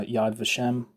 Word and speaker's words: Yad Vashem: of the historian um Jeffrey HF uh on Yad vashem that's how you pronounce it you look at his little video